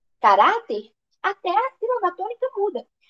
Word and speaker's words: caráter: se classifica em caráter Qual que é a sílaba tônica ra Então qual que vai